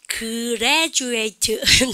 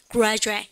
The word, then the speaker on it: graduate: graduate. 좀 이상하죠? 여러분들 G가 R을 만났어요. 그래서 뭐냐면요 그래미가 아니면 그래미가 graduate.